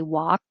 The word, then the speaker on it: walk: lot connects here um remember that walk doesn't have an l you can just leave it out and say walk and you don't have